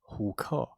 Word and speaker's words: HOOK: So what is this HOOK? Well, I'm glad you asked. First of all, it's pronounced HUKE.